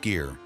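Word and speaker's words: skyr: Number one, sky, pronounced skier.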